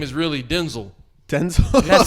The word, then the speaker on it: Denzel: on Instagram where apparently we've been saying his name wrong his like entire career. Who? Denzel, because his name is really Denzel.